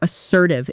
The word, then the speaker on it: assertive: You need to be more assertive in negotiations. One more time, a little faster. You need to be more assertive. Notice the stress falls on the second syllable as sir ti not as sir ti.